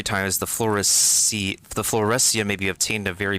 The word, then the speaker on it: fluorescein: sign floor sign how does the ipa pronounce it fluorescein okay an orange red